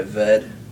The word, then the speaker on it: Ved: an art name um go by vet spell it v-e-d this is the last syllable of my last name some of my lazy friends years ago decided one syllable is easier than two close that door do